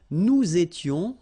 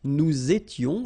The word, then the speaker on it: nous étions: Okay, tu étais, il était, elle était, nous étions, little liaison here to make it more beautiful, nous étions, okay, final S not